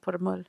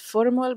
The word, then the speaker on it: Purmul: And sometimes it's like, they say it's Purmul, but the Pashto pronunciation is Purmul.